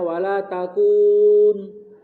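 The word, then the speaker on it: ولا تكن: Sehingga bacanya sebenarnya wala takun. Wala takun. Cuma iltiqa'us sakinain, bertemunya dua sukun, maka huruf illatnya dibuang.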